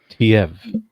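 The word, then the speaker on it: Teive: Yeah, Oh, okay. Tiev. Tiev. Okay. That's how it says in the glossary.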